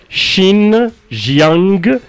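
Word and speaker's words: 新疆: مقاطعة شيانغ يانغ بالصين شيجي يانغ خلنا ننطقها بالكده شين جيانغ بلدة فوكونغ اللي خلي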